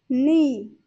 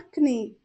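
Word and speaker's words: knee: कहेंगे काफ काफ घुटना नी नी यहां पर के साइलेंट होगा एंड एन डबल ई सिर्फ इसका प्रोनंसिएशन करेंगे और इसे हम बोलेंगे नी नॉट कनी जांग जांग को इंग्लिश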